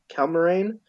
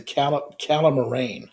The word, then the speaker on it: Calamarain: Um, this is interrupted by the appearance of the Cal Calma, Calmarine. Yeah, the Cal- Calmarine who are old. Sorry, go ahead. I pronounce it the calamarain, I think is how they say it.